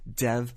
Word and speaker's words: Dev: the recent Round Table he introduced himself as Dev Patel so once again you're supposed to factor the English pronunciation which I was doing but I was also honoring what Dev himself wants to be called which is Dev so thank you for